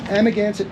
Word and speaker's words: Amagansett: word that means place of good water it's amigancit press how do you spell that yeah and ama g-a-n-s-e-t second word press